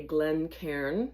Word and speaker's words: Glencairn: And this is called a Glen Karen. That's spelled G L E N C A I R N.